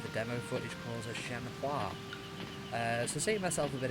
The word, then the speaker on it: Shenhua: Correct me if I'm wrong about this, but the pronunciations seem different with different Chinese dialects, and the dubs use different things, like Shenmue 2, and in certain cases call her Shenfa, and Shenmue 3, from